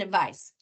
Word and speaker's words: advice: What's the difference in the sounds, not the letters, the sounds? Any guesses? Yes, it's the ending consonant sound. And it's not soft and hard G because that would be phonics. That would be what it looks like. It's voiced and unvoiced.